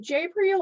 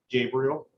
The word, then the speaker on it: Gabriel: So first off, I have, is it Jabriel or Gabriel? Gabriel. Gabriel, okay, cool. Just want to make sure I was pronouncing that correct.